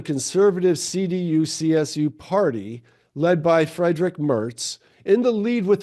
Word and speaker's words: Friedrich: Friedrich. That's from Friedrich. Lucille Ball. Fred Mertz. He was their friend. Oh, Okay. I didn't know that. Friedrich. Okay, I did mispronounce it. Friedrich.